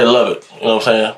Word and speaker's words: Lubbock: i'm saying i say love it you know what i'm saying that's how you pronounce the city love baby yeah i'm saying i know i say love it dude y'all be like love buckle yeah i'll say would